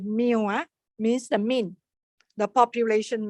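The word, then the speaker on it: μ: This is pronounced as mu, means the mean, the population mean, plus, so this is the first one.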